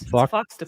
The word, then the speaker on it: Foxtopus: it's a fox and an octopus. It's a foxtopus. Foxtopus Inc.